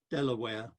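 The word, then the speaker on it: De La Warr: so another state was named after him delaware whereas if you go to bexhill on sea to the pavilion there the art deco pavilion it's called the de la war pavilion and so these pronunciations probably were not very fixed even at the time um the let's move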